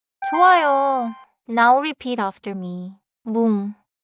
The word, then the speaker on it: 문: 문, 문, 좋습니다. The final consonant is 니은. So finish with the tongue, not the lips.